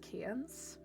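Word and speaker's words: Cairns: Um, can that's pronounced cans.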